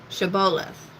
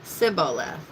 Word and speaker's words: Shibboleth: If he said no, then they would say to him, "Say now, Shibboleth." But he said, "Sibboleth," for he could not pronounce it correctly.